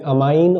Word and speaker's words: ammine: तो प्रोनाउंसिएशन भी इन दोनों का सेम ही होता है, बट मैंने अपने तरीके से बोलने में अमाइन और इसको एमीन कहना थोड़ा सा स्टार्ट किया ताकि थोड़ा सा क्लैरिटी आए स्पेलिंग में और थोड़ा डिफरेंस भी लगे। तो NH3 को अमाइन बोल देता हूँ मैं, और इसको एमीन